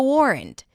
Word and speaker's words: warrant: And we start with a W sound. Then it's the or as in for. And then rent. There is a schwa sound there.